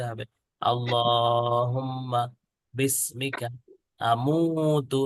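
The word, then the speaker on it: اللهم: আমুতু আমুতু আমুতু আহিয়া উচ্চারণটা খেয়াল করবেন অভিভাবকরা যে এখানে দুইটা ডট দেওয়া আছে তার মানে আল্লাহর পরে একটু টান দিতে হবে আল্লাহুম্মা বিসমিকা মুতু মু এর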